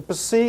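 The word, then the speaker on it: ψ: way is okay py the py is equal to an English PS and has the same pronunciation p as in the English word lips and then the last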